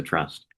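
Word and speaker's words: TRpUUsT: a note that says the P is silent and the S is small. It does make me laugh every time. One of the key challenges we had from the very beginning was who Trust would be designed to serve.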